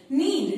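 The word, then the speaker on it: know: पहले भी बताई है, और के बाद जब भी एन आता है तो के साइलेंट हो जाता है और उसमें केवल एन का प्रोनंसिएशन आता है. फॉर एग्जाम्पल के एन ओ डब्ल्यू नो, के एन आई एफ E knife.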